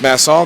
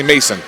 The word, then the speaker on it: Masson: N I said is mass all good he said that's good he said just don't say Mason Mason is 1s so